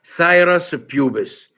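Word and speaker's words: Phthirus pubis: going to speak about thyrus pubis you should know how to pronounce it thyrus pubis which is the pubic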